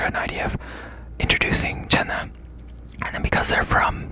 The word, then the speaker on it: Zena: It's spelled like Zena, Z-E-N-A, but the Z in Korean, when you see a Korean name romanized into English letters that is spelled the Z, they pronounce it like a J, but it was Jenna.